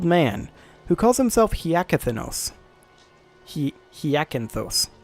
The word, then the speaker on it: Hyacinthos: Hyacinthos. Yeah, I had one too many syllables there.